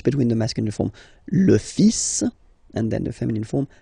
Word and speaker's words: fils: So it's le, and then even if it, you've got this L, well, basically you don't pronounce it, and then strangely you pronounce the final S. Le fils, le fils, le fils, le fils.